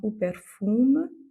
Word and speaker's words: perfume: ou jovem, et enfin o perfume. Là, à la fin, je prononce le M, et c'est la petite